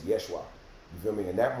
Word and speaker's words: Yeshua: words phrases names cuz anybody who would even use the name Jesus is already not even pronouncing his name right cuz at that time I think they didn't even have the letter J so it's actually name is Yeshua you feel me and